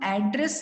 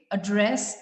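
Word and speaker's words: address: इज a verb, तो वहां पर हम एड्रेस ना बोल के एड्रेस बोलेंगे। वहां पर उस सिलेबल पे जो लास्ट में है उस पर हमने स्ट्रेस दिया।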